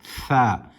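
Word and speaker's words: ثاء: The tha is pronounced with the tip of the tongue touching the upper incisors, the upper teeth, the upper incisors. Tha.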